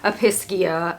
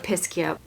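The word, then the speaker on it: Episcia: So I've heard people pronounce it Episkia or Episkia. I've more commonly heard Episkia. I think it depends on where you live, how you pronounce plant names.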